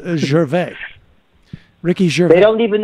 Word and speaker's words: Gervais: French Canadians, and so I'm very particular in the way that I pronounce. It's Ricky Gervais. I'm pretty sure it's Ricky Gervais. He doesn't pronounce it that way. Maybe he's on the lamb. I don't know, but it's Gervais.